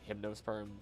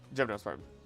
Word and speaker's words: gymnosperm: Also, isn't it like hypnoserm? Am I Am I pronouncing it wrong? Gymnosperm.